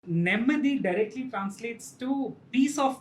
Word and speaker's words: Nemmadi: You pronounced Nemmadi correctly.